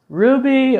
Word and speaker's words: RWBY: Online, Kill la Kill, Ruby, or as it is spelled, RWBY, I believe, Yuki Yuna is a